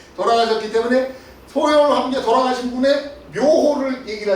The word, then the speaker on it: 소열: 매울 열자인데 열이라고 읽었습니다. 소열, 한나라 소열 황제입니다.